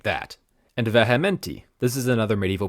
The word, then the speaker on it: vehementi: so it would be vehementi in classical Latin. But eventually it morphs into the V that we all know with the V sound, so it is vehementi, which is a form